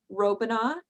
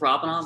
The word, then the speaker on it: Robina: his bachelor's in history hi it's robina that's okay no one pronounces it right that's totally fine um